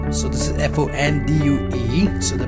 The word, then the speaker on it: fondue: we have a cheese fondue so this is f-o-n-d-u-e so the pronunciation of this one is is fondue f-a-w-n d-o-o fondue pronunciation of cheese this